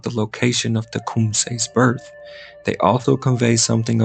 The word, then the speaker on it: Tecumseh: not the location, of Tecumseh's birth. They also convey something of the significance of Tecumseh's name. Even the pronunciation is elusive. One spoke both English and Shawnee fluently, gave it as Tecumseh.